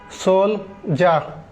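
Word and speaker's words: soldier: এবার আসেন সোলজার, ডি এর উচ্চারণ কিন্তু জয়ের মতো, সোলজার।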